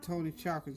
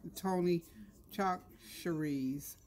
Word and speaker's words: Tony Chachere's: Somebody told me how to say it. I think it's Tony Chachere's. I was calling it Tony Chocolates. It was Tony Chachere's.